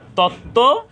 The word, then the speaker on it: তত্ত্ব: সাথে বফলা সংযুক্ত হয় সেখানেও ব ফলার কোন উচ্চারণ হবে না তত্ত্ব এখানে বফলার কোন উচ্চারণ হয়নি তত্ত্ব তো সহজভাবে বলতে